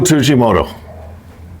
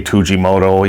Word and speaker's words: Tsujimoto: tujimoto and i'll say tujimoto even though i say tsujimoto all my life but since i'm you know i i've always pronounced the t silent but it's supposed to be the s that's silent but i got so